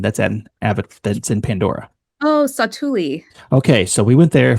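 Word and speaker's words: Satu'li: And what do you call how do you pronounce the name of the canteen that's that's in Pandora? Oh, Satuli.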